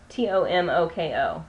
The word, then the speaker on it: Tomoko: is in the shade tomoko t-o-m-o-k-o tomoko well there's other ways you can pronounce it but i think that's probably closest to right this is very similar